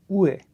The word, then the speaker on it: où est: To ask for directions, use où est. We don't pronounce the ST here. Où est.